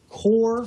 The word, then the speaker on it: Qor: this device right here this is a core that's spelled with a q qor a core 32 this is an amazing